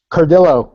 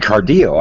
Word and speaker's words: Cardillo: that okay I said cardo I thought that's actually the Spanish pronunciation but I'm Italian but I've been called